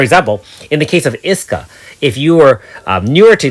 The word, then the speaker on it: Iska: 10th pull revealed a 4.5 Iska, not Asuka, my love. Oh, I guess I know how to pronounce it now.